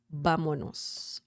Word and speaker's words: vámonos: Vámonos. Vámonos. Vámonos. Remember the accent mark on top of the letter A, because if you don't have it, the pronunciation changes to vámonos.